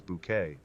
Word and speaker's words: Bucket: when she carried Hyasin Bucket. A middle-class woman obsessed with social status on the show Keeping Up from 1990 to 1995. With her insistence on pronouncing bucket as bouquet, Hyasin is more than just a laugh.